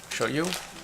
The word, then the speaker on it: shoyu: Ooh, authentic Japanese shoyu. Shoyu? I don't know how to pronounce it.